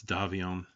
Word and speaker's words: Davion: Davian I guess it depends on what part of the FedSuns you live in, how you pronounce it. It's like the redneck version is probably Davian. Uh, and then like near New Avalon, it's Davion. Um, anyway, he is planning